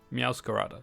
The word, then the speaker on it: Meowscarada: It's like Masquerada. Meowscarada. There we go. Meowscarada. That's how you say it.